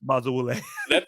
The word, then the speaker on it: Bazawule: That's really weird, but Blitz Bazawule. That's a better pronunciation than I was doing.